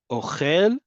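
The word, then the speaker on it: אוכל: Ochel goes up at the end, right? That's that milra we talked about, where the default is on the last syllable.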